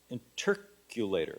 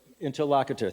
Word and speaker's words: interlocutor: Well, it became codified along the lines of a performance where you had an interculator. Is that how you pronounce it? You had interlocutor.